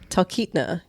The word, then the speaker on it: Talkeetna: I even wrote it phonetically. Talkeetna. I think that's what happened. I messed up my phonetic spelling. Talkeetna.